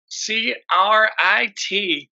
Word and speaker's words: C.R.I.T.: We're here today with Christopher Michael, the creator of Crit, C.R.I.T. Right? Yep. It's do you say crit or do you spell it out? I say crit because the whole Okay.